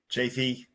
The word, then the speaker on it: Chaffee: Chafee.